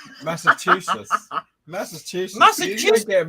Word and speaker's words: Massachusetts: Did you just say massive two shits? To I me? said Massachusetts. A massive two shits. Yeah. Is Yeah. that how you say it? No. How do you say it? Massachusetts.